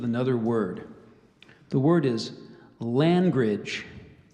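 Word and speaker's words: langrage: time I said it I think the but the correct pronunciation is language could I please have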